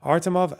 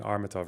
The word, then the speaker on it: Artemov: Artemov and his associates recently used both offshore companies to reinvest. It's Artemov. I was saying Armatov earlier. Okay, fuck off. It's Artemov, right? Stop saying I'm saying the name wrong.